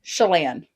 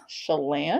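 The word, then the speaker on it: Chelan: They're going to like Shalan. The narrator Shalon. Lake Shalon. Yeah. Yeah.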